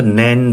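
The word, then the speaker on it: 年: তো নেন বা তোষি হচ্ছে এটার উচ্চারণ।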